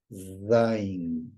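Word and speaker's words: zayin: hebreo que se llama zin que se pronuncia como si fuera el sumbido de una abeja zin así zot Z Y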